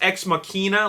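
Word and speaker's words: Ex Machina: in the Marvel Cinematic Universe number three is X makina I don't know why it's pronounced X makina like minina because minina is definitely derived from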